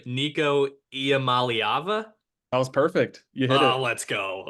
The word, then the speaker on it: Iamaleava: news came out yesterday I'm gonna try to pronounce the last name Nico IAM malava that was perfect you hit it oh let's